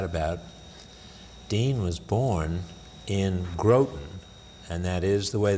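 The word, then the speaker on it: Groton: have to chat about Dean was born in growth and that is the way they pronounced it not gratin not gratin I've been there a couple of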